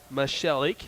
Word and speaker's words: Michelik: Michelik is how you pronounce it.